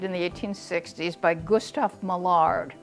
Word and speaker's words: Millard: Millard is mallard, okay, but they pronounce it Millard.